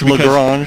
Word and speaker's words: Lagrange: Is it Lagrange or Lagrange? It's Lagrange. I think depending upon what part of America or the part of the world you're from, it could be a different pronunciation there. You know, Daryl reminds me all the time it's Lagrange, but if you're from the South, it's probably something else.